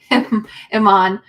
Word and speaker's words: Iman: Iman, I just wanted to make sure I said your name right, cuz I know it's phonetically different than how my white lady brain wants to say. Yes, Iman.